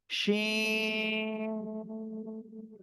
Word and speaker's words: ش: অক্ষর হলো শি এরকম শাসা শব্দ হবে একটু শিন শিন শিন সবাই একসাথে জোরে জোরে